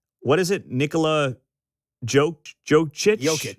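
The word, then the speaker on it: Jokić: Nikola Jokic? Jokic.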